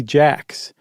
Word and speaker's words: Jacques: that was he married Amy Jax, spelled like Jacques, um who was a